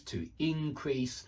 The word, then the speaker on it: increase: Same goes for increase. To increase, to increase. I can imagine both pronunciations being used.